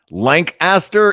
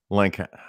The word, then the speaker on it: Lancaster: is every other Lancaster Lancaster is how they say it in Pennsylvania Lancaster or Lancaster I don't know like